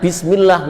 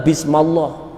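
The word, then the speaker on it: بسم الله: hot dari segi gramatikal Kenapa bismillah kode bacanya bismillah enggak Bisma Allah jelas bagi yang tahu tentang gramatikal Arab ada huruf ba serbu janin nah isme-isme turun tiba-tiba situ Itu ada Hamzah yang hilang itu Hamzah yang hilang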